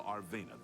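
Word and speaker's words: Arvena: You can go tell Arveana this is all taken care of. Arvea, that's how you say her name.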